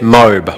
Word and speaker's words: MOBE: And everyone started calling it MOBE or MOBE, to my annoyance. I said, no, it's pronounced My Online Business Empire.